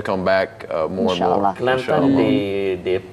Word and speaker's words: Kelantan: Kelantan, they pronounce Kelantan in a different way. How do they say? They call it Klate. Could you Klate?